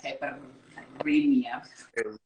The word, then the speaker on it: caipirinha: Roll your R's if you can. Roll your R's. It's the only reason I try to roll my R's. I'm like, caipirinha.